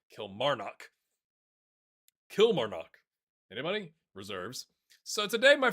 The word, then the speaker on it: Kilmarnock: Old lady plays left a comment that said the emphasis on the syllable is in the middle. Kilmarnock.